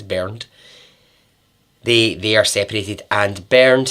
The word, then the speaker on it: Bernd: It's Bernd.